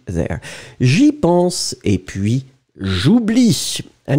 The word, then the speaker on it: j'oublie: But final E is totally mute, so you pronounce j'oublie. But still, the E must be there. J'y pense et puis j'oublie.